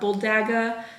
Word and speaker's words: bulldagger: Well, I don't think you pronounce the R, bulldagger, and the history behind that.